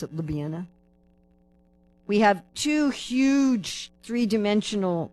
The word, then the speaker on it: Ljubljana: So that's how it's spelled, Ljubljana, but you pronounce it Ljubljana.